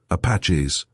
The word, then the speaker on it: Apache: Paris, France, Quartier Latin, students, Apaches. Craig gave it its Gallicized pronunciation, Apache.